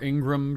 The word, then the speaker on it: Ingraham: Laura Ingraham or Ingram, depending on how you say her name. I say Ingraham.